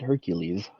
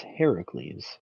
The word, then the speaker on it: Heracles: sure a hundred percent we've got Heracles not Hercules if you pronounce it Hercules you it's Heracles after his death he